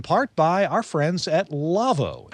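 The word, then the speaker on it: Lawo: by our friends at lavo l-a-w-o pronounced lavo they make some audio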